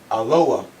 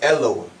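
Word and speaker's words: אלוה: aleph, lamed, hey, and it's pronounced aloha or eloah. Okay, when you look at the modern Hebrew, let me write it up here for you. Aloha or modern Hebrew, Eloah.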